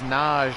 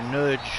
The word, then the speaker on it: Nagy: his hands yes in hungary you would pronounce nagi as naj or nudge i've even heard people say nudge i had some very